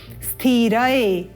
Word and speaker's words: स्थिर: हमें स्पष्ट लेना है इसको हम कई बार स्थिर इस प्रकार बोल देते हैं य इ स्थि ऐसा नहीं है यह स्थि नहीं है यह अनुपयुक्त है क्या है स्थि स्थ पहले आप उच्चारण करेंगे स्थ और उसके बाद उसमें इ का स्वर संयोजित करते हुए बोलेंगे स्थि स्थि उत्तम स्थिर स्थिर रंग